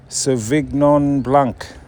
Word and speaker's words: Sauvignon Blanc: Sauvignon Blanc.